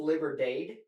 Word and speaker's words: Liberdade: It's spelled Liberdade. Okay. But it's Portuguese Liberdade, and it's named after, I think, the neighborhood that Milton grew up in Brazil.